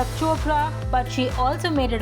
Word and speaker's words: Chopra: with priyanka chakra shamrock it's not chopra it's like if you can say oprah you can say chopra you know it's not